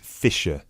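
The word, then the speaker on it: Fischer: me your full name sure it's Mr fiser okay sorry how do you spell your surname it's spelled f i s c h e r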